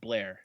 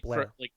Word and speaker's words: Bel Air: up to Bel Air, but it's all pronounced Blair. Blair. Everybody says Blair.